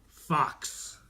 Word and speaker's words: Fuchs: Fox. Like the fox.